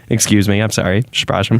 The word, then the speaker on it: przepraszam: things like, excuse me, which is very easy to pronounce in Polish. It's przepraszam. Okay. Przepraszam, excuse me.